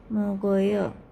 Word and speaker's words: 먹어요: Jadi muk kemudian tambah eoyo, jadi bacanya mugoyo.